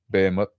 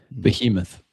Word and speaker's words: Behemoth: Bmut. Behemoth. Behemoth. Yeah. Sorry, I'm pronouncing it wrong.